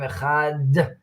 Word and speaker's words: Echad: So when you say Shema, it's drawn out, Shema Yisrael, Hashem Elokeinu, Hashem Echad, and you pronounce the Daled to stress the ayin and the dalet, who together make ed, is witness.